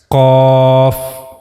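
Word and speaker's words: ق: This is one of the bold letters. Cough. As you can hear, I'm making the bold voice cough.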